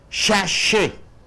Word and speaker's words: sachet: Sachet. It is a noun. What do you mean by sachet? Sachet. Two sounds are there, two syllables. The first syllable should be stressed. Sash, A.